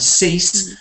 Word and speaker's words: cease: Sees has a Z sound at the end and cease has an S.